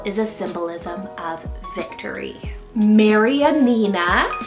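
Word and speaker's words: Marianina: n a Maran Nina now this one is such a long like Mary an N like it has five syllables it's a longer style name but it's a mixture between like Mary and Nina kind of put together there but it's a Latin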